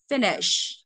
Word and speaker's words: finish: vào đúng không ạ Không đọc finish mà là gì finish finish được chưa đấy nó rơi vào một cơ mà Đấy nên